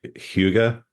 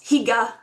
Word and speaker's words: hygge: sort of Scandinavian examples of, I can never pronounce the word right, hygge, Oh, yes, Higa.